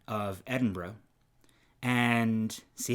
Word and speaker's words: Edinburgh: of scotland yes yes um talking about the pronunciation of edinburgh and see how it just rolls off your